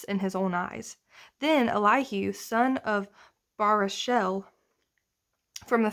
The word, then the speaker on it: Elihu: pronunciations so um this is going to be elihu according to the bible project's pronunciation who is responding to job and all